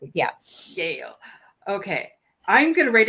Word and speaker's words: Yael: Yael is how you pronounce it. Yeah. Yael.